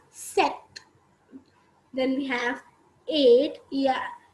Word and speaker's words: sept: short form of september s-e-p-t which is set we say it as set then we have eight